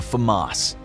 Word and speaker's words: FAMAS: Number Nine: The FAMAS [NARRATOR NOTE: Pronounced Fuh-moss] Another obscure but combat proven rifle you may never have heard of is the FAMAS.